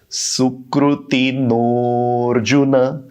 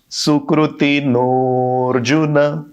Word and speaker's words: सुकृतिनोऽर्जुन: ये एक ही शब्द सुकृतिनः और अर्जुन, इन दो शब्दों की संधि से बना है। और उच्चारण कैसे होगा? सुकृतिनोऽर्जुन। वो एस जैसी जो साइन है उसका आप ख्याल रखिए।